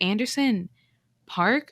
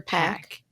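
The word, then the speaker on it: Anderson .Paak: to pronounce his name is it anderson park or pack pack okay well there's no r i don't know why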